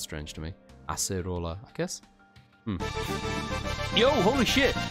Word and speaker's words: Acerola: So Acerola, as opposed to Ace Roller, which I guess makes sense. Ace Roller sounds strange to me. Acerola, I guess?